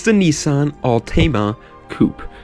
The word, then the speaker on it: Altima: cute it's the Nissan Altima coupe that's actually how you're supposed to pronounce it everybody's going around there saying Tima wrong tell them they're wrong